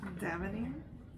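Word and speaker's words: D'Avenir: her last name, which I think you'll appreciate, is spelled D''. A-V-E-N-I-R. A-V-E-N. I-R. Davenier?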